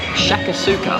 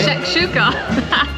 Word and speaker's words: shakshuka: to go for the shakasuka. Have I pronounced that correctly? Shakshuka.